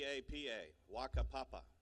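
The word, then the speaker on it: whakapapa: book and the name of the word is Waka Papa all right and it's spelled wh Ka a p a PA a Waka Papa it's a fun word to say uh but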